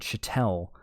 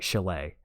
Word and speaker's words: chalet: After a sudden burst of creativity while hidden away in his rented chattel, or chatlet, sorry, in the Swiss Alps. That's the secret. Sorry, chalet.